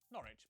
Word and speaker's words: Norwich: stir leicester worcester gloucester w at the start of the final syllable is silent norwich beric southwark er is